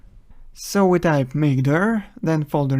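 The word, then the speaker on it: mkdir: Linux we use mkd command which is usually pronounced as makeer so we type makeer then folder name enter and here's a new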